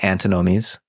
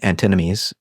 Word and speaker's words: antinomies: And what Kant does in his critique of pure reason is he runs through what he calls the antinomies, or the antinomies, pronounce it either way.